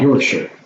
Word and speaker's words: Yorkshire: So he's saying it's never shire, it's always sure. Like Yorkshire.